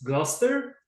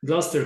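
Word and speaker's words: Gloucester: you went to I'm I'm inclined to pronounce it like a British pronunciation of your school so it's gluster yes okay so it's the British pronunciation gluster Catholic and it's a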